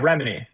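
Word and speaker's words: Remini: Remeny.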